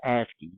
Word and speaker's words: ASCII: So ASCII, this is pronounced ASCII.